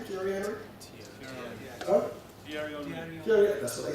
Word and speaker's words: Thierry Henry: I remember one time watching Thierry Henry, that's how we pronounce his name, Thierry Henry?